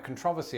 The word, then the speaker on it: controversy: You see, there's been quite a controversy online about how Brits and Americans pronounce this word, and as you heard just there, I say controversy. You think that I'm courting controversy. Controversy, I say it that way.